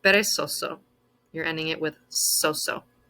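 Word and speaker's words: perezoso: atletico comico divertido intelligente the letter z in spanish is pronounced basically like the letter s so this word is pronounced peresoso you're ending it with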